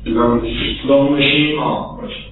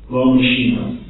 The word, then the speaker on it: L'homme machine: How would you pronounce that in French? L'homme machine. L'homme machine.